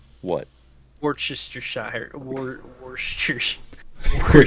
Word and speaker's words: Worcestershire: I think it's pronounced Worcestershire.